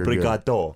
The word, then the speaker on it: obrigado: Just change the last syllable to an O. Really? You're Obrigado.